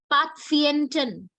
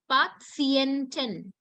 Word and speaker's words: Patienten: And patients has a different pronunciation. We call it Patienten. Patienten. This is something you couldn't guess.